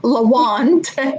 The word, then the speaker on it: Lawand: me the question because my name lawant rhymes with wand right and in the